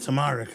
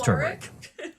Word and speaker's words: turmeric: Oh, you really wanted that tamaric, huh? It's turmeric.